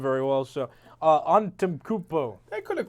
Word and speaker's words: Antetokounmpo: I'm Greek and I don't know how to pronounce his last name very well. So, Antetokounmpo.